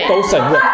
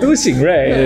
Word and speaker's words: Du Xing Rui: There are two heteronyms. "Du" and "Dou," "Xing" and "Sheng." "Dou Sheng." "Dou Sheng Rui." No, listen. When I was getting my medicine, the person at the counter said my name wrong. "Dou Sheng Rui." No, he called me "." And I knew it was probably me. Sorry, my name is Du Xing Rui. You pronounced the whole name wrong.